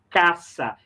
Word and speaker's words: casa: Observa que em português esse S aqui tem som de Z. Eu não vou pronunciar assim, eu vou pronunciar caça.